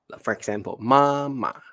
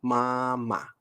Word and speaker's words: 妈妈: For example, mama, right? 弟弟, right? 爸爸. All the time, the second word will be pronounced as the neutral tone. Okay, so mama.